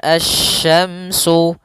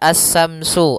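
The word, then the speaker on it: الشمس: dalam pelafalan huruf syin Jangan dibaca assyamsu asyamsu Wal qamaru bukan atau juga Samsu dengan tsa bukan karena di sini huruf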